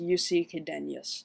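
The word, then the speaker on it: Jussi Chydenius: a group called rioton his name is pronounced yusi qadenius and they're from finland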